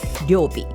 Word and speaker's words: Ryobi: This is Ryobi or Ryobi circular saw. I mean, it's Japanese company and we pronounce it Ryobi.